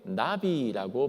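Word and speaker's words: נביא: 밑에 나비라고 발음합니다. 이름 예쁘죠? 한국말로 나비. 나비 할 때와 그 나비와 똑같습니다.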